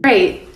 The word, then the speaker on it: great: Tous ceux qui disent greet pour ça là là prononcent mal parce que greet ça veut dire saluer.